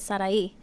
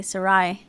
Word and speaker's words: Sarai: a personal level, but my name is actually Sarai. And so with an I at the end, and you pronounce it Sarai. But when I came here to the U.S., people would mispronounce it and say Sarai.